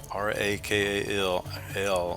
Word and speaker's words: Rakal: Rakal, R-A-K-A-L, pronounced Rakal, is a merchant, a primitive route to travel for trading.